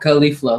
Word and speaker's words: Khalifa: ] King yeah so so how was it pronounced then uh khalifa' khalifa' Wiz Khalifa like was yes cauliflower awesome I